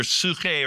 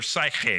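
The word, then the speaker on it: ψυχή: The Greek word, depending on whether you're speaking Koine Greek or classical Greek, it's either psuche or psyche, but either way, it sounds like the word psychic or psychology, something like that, the life of the mind, whereas spirit is pneuma.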